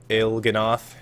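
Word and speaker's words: Il'gynoth: It's going to have its moments for me as well, especially on the eye bossil Ilgenoth.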